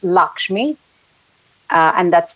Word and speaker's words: Lakshmi: this is how I am usually called it's Lakshmi uh and that's spelled as l a k hm I and